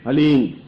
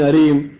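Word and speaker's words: ह्लीं: वो बोले ओम हलीम बस ये हलीम शब्द बहुत ध्यान से उच्चारण करने देना। HALEEM, हलीम। कोई बोले हरीम, कोई बोले हीम, तो कुछ फायदा नहीं होगा। हलीम, हलीम, ह आधा है।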